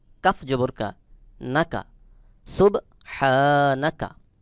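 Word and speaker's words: سُبْحَانَكَ: আলিফ জবর হা সুবহা এখানে দেখুন হা আলিফ জবর এক আলিফ টান হা এই হা হলকের মধ্যখান থেকে একটু চাপ দিয়ে উচ্চারণ করতে হবে সখী উচ্চারণ হলো সুব হা নুন জবর না কাফ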